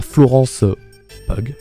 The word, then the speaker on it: Florence Pugh: On a Florence Pugh, j'imagine que ça se prononce comme ça.